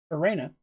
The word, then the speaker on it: Arena: And head priest Arena is actually how I pronounce it.